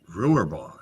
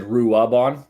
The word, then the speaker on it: Ruabon: I should know better, having a wife from the UK, not to pronounce the A's and to substitute them as R's. Only say the letter R when it doesn't exist. If it does exist, remove it.